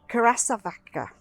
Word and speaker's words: curassavica: So this is Asclepias, and I have to read it, curassavica. No, that's not how you spell it.